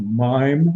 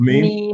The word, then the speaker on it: meme: Is it a mime or a meme? A meme?